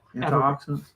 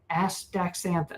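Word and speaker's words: astaxanthin: Gosh, this word comes up a lot on the show and I can't antioxidants. No, aacanthin. Yeah, that's a tough one. That's that's how you pronounce it.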